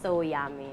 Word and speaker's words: Soyami: interesting so is it it's pronounced so yummy so yummy yes yummy from soy and yummy Y at the same time yes yeah okay so